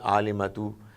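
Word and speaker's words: عالمة: When you read this word alimatu and it comes towards the very end of the sentence, you would not pronounce ta. Instead, it would become ha, alima.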